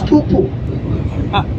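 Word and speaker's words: pūpū: nobody knows it it's poo poo again I'm not kidding it's spelled p p not p o o p o o okay yeah so you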